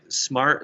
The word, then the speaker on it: SMAR7: Everybody, smart is spelled with a 7. It's SMAR7. It's pronounced smart.